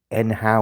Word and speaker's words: nhow: How is the nhow or how? I've heard some of the staff refer to it as how. So, I think the N is silent, which makes no sense, but whatever.